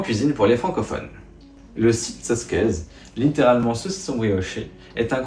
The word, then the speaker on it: Siczocskeș: saucisson brioché, et que la prononciation de ce mot, c'était littéralement Sitsotsquez.